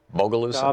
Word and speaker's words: Bogalusa: Larry in Bogalusa, Louisiana. Am I saying it right, Larry? Bogalusa?